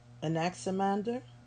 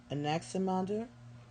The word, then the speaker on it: Anaximander: es okay I don't know that how to pronounce these I'll be honest Anaximander Anaximander which is a in a X I am